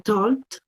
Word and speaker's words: talked: Y el sonido con el que yo lo pronuncio es la T. Perfect, Lina. That's right. Ujú. Particularidad. Tenemos talk. Yo puedo decir talked, ¿cierto?